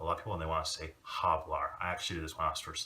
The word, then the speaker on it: hablar: people they want a hablar I actually this mobsters like hablok hoy you don't want to do that so what you should say is habla so you want to make that H silent if it's at the